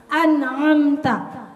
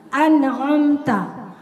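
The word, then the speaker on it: أنعمت: Kalau kita udah bisa bedain hamzah dengan ain, ainnya biasa aja, jangan ngegas, jangan syiddah, jangan ditekan. An'amta, an'amta. Kenapa Umi bilang an'amta? Karena lagi belajar. Kalau nggak digituin, ibu nggak paham bedanya. Ya, kalau Umi tilawah biasa an'amta, karena ain itu tidak syiddah, maka dia nggak boleh diucapkan dengan ngegas atau menekan.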